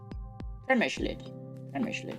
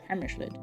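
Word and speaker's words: Přemyslid: Premyslid. That's how you say it. Premyslid, apparently.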